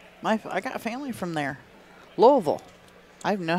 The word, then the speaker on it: Louisville: Yeah, Louisville is what people not from Kentucky call it. Or Louisville, depending on where you live at in the country. But if you're from Kentucky or the surrounding area, it's Louisville.